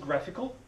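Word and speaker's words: GraphiQL: that you see here is called graphical spelled like graph QL just written type so this is radical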